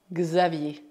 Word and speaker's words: Xavier: Neste caso, o X é pronunciado X. X. Assim, Xavier, Xavier, Xavier.